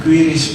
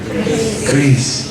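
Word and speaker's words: QRIS: saya pernah dikoreksi juga bukan quiris Pak tapi yang benar itu Kris krisah lebih mudah aja Kris walaupun pakai Tapi bacanya tetap Kris ini mudah kita makan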